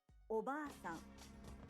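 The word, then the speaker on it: おばあさん: Oba-san. The a in ba is held for 2 claps. Oba-san. Japanese learners often shorten the long vowel in ba and say oba-san, meaning aunt, not grandmother.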